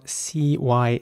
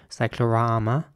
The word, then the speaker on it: cyclorama: Next up, we have a word that's spelled C-Y-C-L-O-R-A-M-A. And in British English, it's pronounced cyclorama with R sounding A's again. Cyclorama. And in American English, it would be cyclorama.